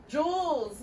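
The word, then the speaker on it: joules: the units for work Jules you said it right - awesome so like a jewel like jewels in your ear and your bracelets but it's spelled like this okay all right what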